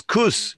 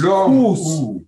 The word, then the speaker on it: kos: would know hygge, but it's kus in which is KOS. Long. Yeah, it's kus. Kus. Kus. Like couscous. Kus.